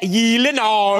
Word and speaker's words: Gyllenhaal: It is a Swedish name. So shouldn't it be like Gyllenhaal? Oh my God. I have Gyllenhaal. The only two places that that is pronounced correctly, my last name like you did just now, is in Sweden and in IKEA.